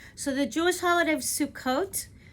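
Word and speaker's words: Sukkot: the Jewish holiday of sukot Eastern European Jews often pronounce it sukus is a joyous holiday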